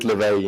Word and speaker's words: Léveillé: i did give it it's in french it's literally but in english i really don't know how to say it correctly you can go with leveli it's okay the valley okay cool